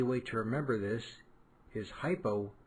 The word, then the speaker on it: hypo: An easy way to remember this is hypo rhymes with low.